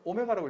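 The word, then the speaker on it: ω: 표현을 쓴단다 그래서 문자예요 w가 아니고 오메가라고 읽으세요 대문자는 이런 시기가 있어요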